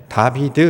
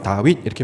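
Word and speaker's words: דוד: 마무리가 잘 알고 있죠 다윗을 히브리어로 발음을 하면 어떤 발음이 되냐면 다비드 이렇게 발음합니다 우리가 옛것은 야 이어서 다윗 이렇게 부르는데요 원래는 양 다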